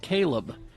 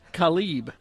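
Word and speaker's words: Kalib: a woman who had a son named Caleb but it was spelled k a l i b she would get mad when people would pronounce it Khali yeah well KH yeah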